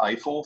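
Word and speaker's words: IFEL: put up there and we pronounce that eyeful for short like Eiffel Tower yes and that sounds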